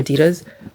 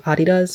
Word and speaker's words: Adidas: shoes, you and especially Adidas or Adidas, I think that's how you're supposed to pronounce it. I think the founder's name was like Adolf or Adolf and his nickname was Adi. So, Adidas. But anyway, like I'll just